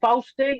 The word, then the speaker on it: Fausti: Fausti. I think that's how it's said. Hey. That is how you say it, yes.